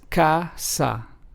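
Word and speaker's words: casa: word kit for example Kasa which means House in Spanish is pron anounced ASA clo which means clear in Spanish is pronounced as clo and Kina which means kitchen in Spanish is pronounced as coina so as we can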